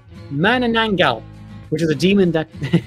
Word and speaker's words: Manananggal: Manananggal. What? There you go. Pronounce it properly, right? Manananggal, which is a demon that...